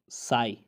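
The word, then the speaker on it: sigh: अच्छा, 11वीं बात यह है कि अगर किसी लफ्ज़ के आखिर में GHT या GH आता है तो GH हमेशा साइलेंट होता है। GHT आ जाए तो ज़ाहिर टी को पढ़ा जाएगा, लेकिन जी एच को हमेशा खामोश किया जाता है, उसको साइलेंट किया जाता है। जैसे आप कहते हैं साई, आह भरना, साई कहते हैं इसे। जी एच इसमें खामोश है।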